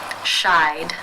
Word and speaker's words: shied: you pronounce this word the final sound in the infinitive is the I as in by diphthong therefore it is case 2 and the e d is pronounced as the D sound shied shied how do you